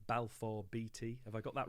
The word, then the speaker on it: Balfour Beatty: construction company and i hope i'm going to pronounce this right balfour beatty have i got that right neil you have